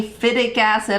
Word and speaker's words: phytic acid: number one reason is phytic acid people will pronounce that differently FIDIC acid all kinds of stuff I call it phytic acid it's designed to protect